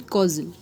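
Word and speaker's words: causal: नाउ कैजुअल एंड कॉजल. कैजुअल में आपका S और U का है, S आगे है फिर कहीं U पीछे, तो आपकी प्रोनाउंसिएशन अगेन इंपॉर्टेंट हो जाती है.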